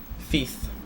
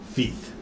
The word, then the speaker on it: Fiz: sometimes but it's fees Feth Feth yeah okay cool I didn't know you that's how you pronounced the like Z yeah it's like th I love that yeah